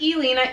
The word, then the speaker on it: Elena: exact if you Lena I pronounce it Elena e le na however